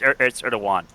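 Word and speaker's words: Erdoğan: It's Erdogan. I don't like him enough to bother pronouncing his name right.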